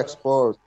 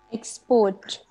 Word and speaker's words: export: एक्सपोर्ट। एक्सपोर्ट। एक्सपोर्ट। एक्सपोर्ट जिसको stress करना है, पता भी चले स्ट्रेस किया है। एक्सपोर्ट। हाँ, ये सक्सा। हाउ डू you pronounce it? export, नहीं, स्ट्रेस सही नहीं हुआ।